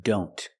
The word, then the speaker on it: don't: Or when we see the word don't. A lot of times the T in don't is silent.